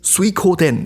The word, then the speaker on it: Suikoden: sometime in 1624 but water margin which is pronounced as suikoden in japan did not become immediately popular it